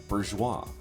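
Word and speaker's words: bourgeois: Bourgeoa.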